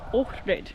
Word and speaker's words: Ohrid: We have landed in Ohrid, it's apparently how you pronounce it.